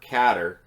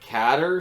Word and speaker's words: Qatar: I'm guessing or catter I heard her pronounced both ways throughout that whole thing and I've heard it pronounced both ways I've always pronounced a guitar but cater seems to be the one that gets thrown around more so although once that bladder revealed it and looked horrified he did say guitar so Qatar it is uh